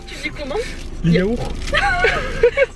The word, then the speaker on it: yaourt: Tu prononces pas le T à la fin? Mais tu dis les yaourts? Oui. Moi je dis les yaourts. Un yaourt à la fraise. Et si? Un yaourt. Un yaourt? Mais non. Ouais, attends, ouais, je pose des questions. Vas-y, Ouais. vas-y. Vous dites yaourt ou yaourt? Vous prononcez le T, non?